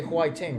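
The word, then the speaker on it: 화이팅: There's sometimes they say Huaiting, right? Yeah, because the F sound is not prominent in Korean.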